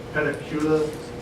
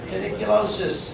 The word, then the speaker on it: pediculosis: Next one, policy 1, policy 209.1, pedicula. How do you say it? Pediculosis.